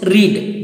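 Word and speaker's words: read: अब आइए the next verb is रीड।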